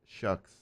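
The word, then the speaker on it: Shough: It was once pronounced like the ck sound in Scottish words like lock like you know like the Lochness monster.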